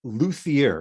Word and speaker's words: luthier: So you are a luthier. Is that how you pronounce it?